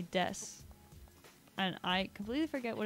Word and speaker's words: desu: And but it's spelt D-E-S-U, and so usually in Japanese that would be pronounced desu, but in this specific context the U on the end isn't pronounced, so it's just des.